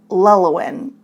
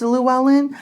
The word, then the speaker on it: Llewellyn: one it was now I actually called Llewellyn lelawin and I think I called it that a couple times and I have absolutely no idea why I called it that I know it's Llewellyn I think because that's how my husband pronounces